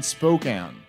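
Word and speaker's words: Spokane: and then Tacoma and Spokan that's I was told today that's how you say it spoke been told by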